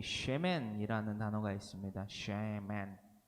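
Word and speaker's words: שֶׁמֶן: 쉐멘, 여이 발음의 쉐에 맨, 어이 발음의 맨, 쉐멘이라고 하는 이 히브리어 쉐멘이 가리키는 뜻은요, 바로 관유를 의미합니다. 관유 땡땡, 그러니까 이 꼴이 있죠. 은 있잖아요. 관유는 히 쉼표하고 쉐멘, 세멘이 아니라 쉐멘이라고 적어두시면 성경을 읽으실 때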